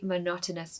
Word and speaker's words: monotonous: Pronunciation tip. The word not is said quite loudly in the word. Listen. Monotonous. Monotonous. So make sure you stress the second syllable.